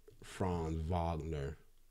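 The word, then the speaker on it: Franz Wagner: down with uh you know I'm down with fron Vagner somebody taught me how to say that because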